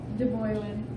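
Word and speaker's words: debwewin: This is our poster about truth, and truth is pronounced Deboyuin in Ojibwe.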